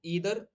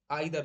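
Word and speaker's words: either: दोनों को नहीं करेंगे, तो ईदर और आइदर दोनों का इसका प्रोनाउंसिएशन होता है।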